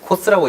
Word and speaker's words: COSS: 아 틈새에 어떤 궁금증이 생겼는데 그 계속 저는 COSS라고 읽고 있었는데 코스라고 이제 줄여서 불러도 괜찮은 겁니다.